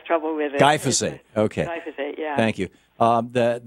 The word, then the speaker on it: glyphosate: Glyphosate.